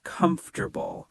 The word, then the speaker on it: comfortable: Native speakers say comfortable, not every syllable clearly.